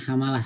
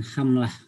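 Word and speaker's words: حَمَلَة: Jadi bacanya hamalah, bukan hamlah.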